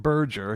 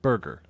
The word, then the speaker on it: Burger: But he was um Yeah, he actually he didn't pronounced it Burgger, he pronounced it burger, right?